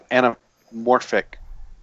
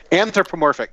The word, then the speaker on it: anthropomorphic: Like more of a anamorphic bear. Anthropomorphic, thank you. I knew the word was there, but I wasn't saying it right.